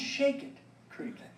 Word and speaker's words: Shackett Creek: It's pronounced Shake It Creek.